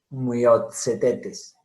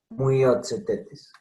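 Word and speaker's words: Myiozetetes: Y en medio de palabra, TS, miren, Myotzetetes, como en pizza, Myotzetetes.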